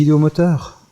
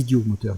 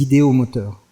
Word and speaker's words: idéomoteurs: avez des gens ou des idéomoteurs pas des idiot moteurs des idéos moteurs attention je parle vite